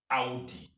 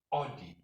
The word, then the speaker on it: Audi: We have a word that is spelled A-U-D-I. Audi. We all, English people, we say Audi. Audi.